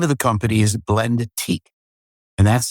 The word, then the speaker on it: Blendique: company and the name of the company is Blendique and that's spelled B L E N D E T I Q U E Blendique.